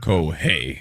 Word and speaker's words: Kohei: Okay, so he said Kohei, a little tip, and his real pronunciation is Kohei. So yes, Okay. Kohei. Kohei. Yes, not Kohei.